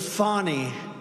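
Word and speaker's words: Fani: have to pronounce it fonny it's called Fanny you have to pronounce fonnie I don't know how she get she should add a little u in there someplace if she wants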